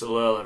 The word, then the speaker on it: Alola: Do you know, I don't know how to pronounce that. I sort of stutter every time, but it's Alola Region. It's because you want to say Aloha.